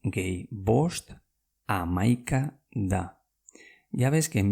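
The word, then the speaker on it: hamaika: 6 gehi bost amaika da.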